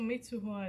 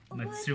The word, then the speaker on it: Mitsuha: Taki is looking for Matsuha. What? I butchered her name. Mitsuha.